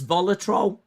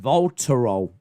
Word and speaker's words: Voltarol: Hey Google, what's Volatrol? No! Idiot! Oh my god, I'll just type it. I feel like I'm going back to the dark ages. What's it called? It's pronounced Voltarol.